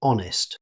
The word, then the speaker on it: honest: The word begins with an H, but it's never pronounced. Native speakers say honest.